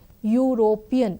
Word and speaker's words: European: You have to look at the pronunciation of the word European. It is pronounced as U. U is starting with Y.